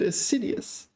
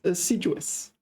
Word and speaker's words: assiduous: they used right assiduous except I mispronounced it I said aidus it's assiduous okay assiduous students should